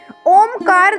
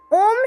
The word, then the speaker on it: ओम: ओम को ओम कहा जाता है, उसमें भी बोलते वक्त ओ पर ज़्यादा जोर होता है।